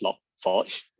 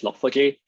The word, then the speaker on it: Log4j: about log 4j or it should be actually pronounced as log forge but most people just pronounce it as log4j and so what is